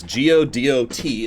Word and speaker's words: Godot: Yes, G-O-D-O-T is pronounced Godot.